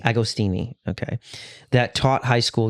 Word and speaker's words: Agostini: how do you say your last name again agostini agostini okay that taught High School US history for